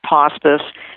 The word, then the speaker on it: Pawspice: Yeah, you can link right up to our Pawspice site, and I call it Pawspice because it rhymes with hospice, but it's much, much more.